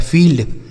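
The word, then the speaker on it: field: जैसे एफ से हो गया फ, इस आई और ई का उच्चारण क्या हो जाएगा? बड़ी की मात्रा, एल से आधा ला और डी से ड हो गया फील्ड, ठीक है, इसे पढ़ा जाएगा फील्ड।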